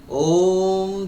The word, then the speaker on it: ওম: চোখটা বন্ধ করুন এবং আপনি যদি ও এই ওম পার্টের ওম উচ্চারণটা থ্রি ফোরথ আর এম উচ্চারণটা ওান ফোরথ এইভাবে আপনাকে উচ্চারণ করতে হবে ও এইভাবে যদি আপনি মন্ত্র পাঠ করেন তাহলে আপনার মধ্যে একটা অসীম শক্তি আসবে।